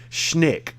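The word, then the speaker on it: Schenck: the common spelling r-o-b-e-r-t b-r-o-b-e-r-t robert leonard l-e-o-n-e-r-d schnick it's how it's pronounced s-c-h-e-n-c-k-s-c-h-e-n-c-k now he has a youtube cnn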